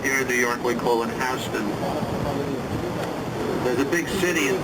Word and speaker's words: Houston: here this would be houston street some people might pronounce it houston it's spelled the same way but here in new york we call it houston there's a big city in texas called houston